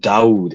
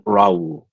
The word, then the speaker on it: Daoud: So, you know, If anything, it's just Daoud. It's never been Raul. It's never been that. It's always been Daoud. There's no other pronunciation. I mean, it could be Either way. Dawood. Next question. It could be Dawood.